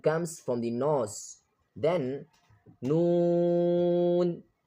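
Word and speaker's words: نون: Then Noon. Noon. Noon is pronounced by touching the tip of the tongue to the upper gums.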